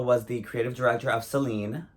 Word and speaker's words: Celine: the creative director of Celine Accent on the E for like 10 years